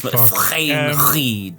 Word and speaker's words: Frayne-Reid: It's Frayne-Reid. That's how you pronounce it.